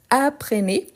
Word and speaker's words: apprennent: prononce pas le S aprené comme s'il avait un accent aigu et apren je ne prononce pas le NT à la fin le e non plus